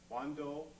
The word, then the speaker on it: Wando: Wando, originally pronounced Wanduan, means the way of the king.